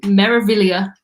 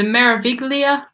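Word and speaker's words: Meraviglia: it take mo to learn to say MSC maravilla and just ignore that G that's right in the middle if you go back to my old videos like two years ago the Marivic Lea pronunciations on there it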